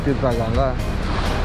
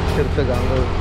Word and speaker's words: Tirta Gangga: Ya, karena memang di sini sebuah objek wisata bernama objek wisata Tirta Gangga, atau bahasa Indonesianya ya ejaannya Tirta Gangga. Cuman kalau orang Bali nyebutnya Tirta Gangga.